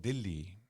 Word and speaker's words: Delhi: year in I noticed you mention you said delhi now it's known as Delhi so when when did the change happen I think I'm jumping the gun this is this is this is probably the British period and later on uh it's even called Dilly okay to to make it shorter okay some people even call it dilhi DHI d i l l i but the real name